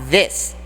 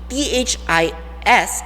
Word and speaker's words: this: pronunciation if it's the t-h-i-s it's this this this but if it's t-h-e-s-e you would have to smile for it these these okay now